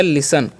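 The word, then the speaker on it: listen: ई एन ठीक है तो इसे लिस्ट सिस्टर पढ़ने का गलती नहीं करना है। एल का उच्चारण करना है ल। आई का उच्चारण करना है हर्ष। एस का उदाहरण स यहां पर टी साइलेंट कर देना है इ एन से न। तो हो गया लिसन।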